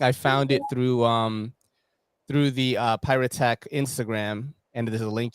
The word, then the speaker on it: Piratech: Piratech. Piratech. It's Yeah. actually a word that combines pirates and also technology.